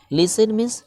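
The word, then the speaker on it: listen: लाइक लाइक लाइक लाइक लिसन लिसन यहां पर जो है वह साइलेंट है एडिसन टीवी लेकिन यह साइलेंट है जिसको हम उच्चारण नहीं कर सकते लिसन लिसन लिसन एंड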